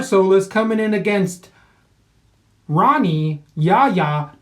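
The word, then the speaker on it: Rani: is coming in against Ronnie yah yah does not want to be pronounced honey he goes with an R so yog on here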